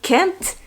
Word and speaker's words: can't: But if you say I can't, sometimes you don't hear the t at the end.